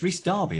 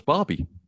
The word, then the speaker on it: Rhys Darby: do you think about the world darby it's rhys darby isn't it i thought it was barbie now he's are you saying it wrong i'm